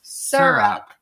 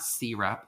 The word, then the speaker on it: syrup: we're pouring over them syrup it's not syrup and it's not syrup and most people say syrup good and only if you say syrup milk it's syrup syrup carbonation with an identity